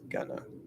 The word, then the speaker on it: going to: Going to is most commonly pronounced as gonna.